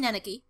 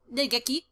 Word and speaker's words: Nageki: I think this is the first time you sat down next to me, Naneki. Nageki. I have been saying his name wrong right into the intro.